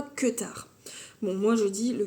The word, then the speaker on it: Kuutar: J'ai tricoté le Kutar Top, alors Kuutar, qui normalement se prononce, je crois, Kutar.